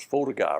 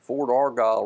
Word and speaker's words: Fort Argyle: Fort Argyle Road was Fortiguy Road. That's whenever they started pronouncing it Fort Argyle Road, which is the correct pronunciation.